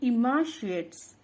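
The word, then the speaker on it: emaciate: ये EMACIAT इसको बोलते हैं इमाशिएट्स। इमाशिएट। ई तो उसका प्रोनाउंसिएशन ई आता है, कभी कभी ई आता है और कभी कभी AB आता है। उसको थोड़ा आप मार्क करने का है, तो लिखते हैं इमाशिएट।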